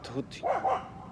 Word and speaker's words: Tehuti: So inevitably, T.H.T, end up with the pronunciation of Tehuti, which is also, yeah,